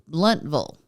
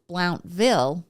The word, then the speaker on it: Blountville: this all happened well it's pronounced bluntville like Louisville instead of Blountville like I said she